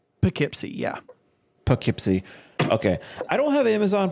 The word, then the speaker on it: Poughkeepsie: so yeah okay one more time is it Poughkeepsie Poughkeepsie yeah Poughkeepsie okay I don't have Amazon Prime because I